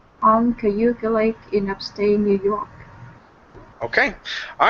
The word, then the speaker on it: New York: New York okay so when we say New York the stress is on York okay so instead of saying New York it's New York New York good good